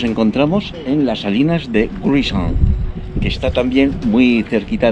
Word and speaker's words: Gruissan: Sí, las salinas de Jurisson. ¿De? Jurisson. Jurisson. Jurisson. ¿Cómo está escrito? Igual está afuera, luego lo miro. ¿Pronunciado Jurisson? Jurisson. Jurisson. Muy bien, muchas gracias.